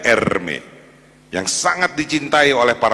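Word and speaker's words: Hermès: ini ada merek Hai namanya Hermes bacanya er meet yang sangat dicintai oleh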